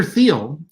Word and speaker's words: Thiel: Peter Thiel, or Peter Thiel actually is the way you pronounce his last name, born in Germany, he's